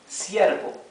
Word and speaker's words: ciervo: Okay, and our last example is ciervo. Same thing. Okay, ciervo means deer, a deer, the animal. Okay, ciervo, the R is also smooth.